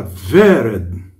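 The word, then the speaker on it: ורד: Você vê que o vav está sendo pronunciado com o é. Por quê? Pode ser, pode com vá, vé, vi, vó, vu. Ele está aqui nessa palavra pronunciado como se fosse juntado a ele um é.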